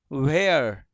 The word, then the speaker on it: where: एंड WHERE, वेयर, वेयर, वेयर।